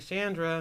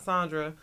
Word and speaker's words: Chandra: I'm like, Chandra, not Sandra.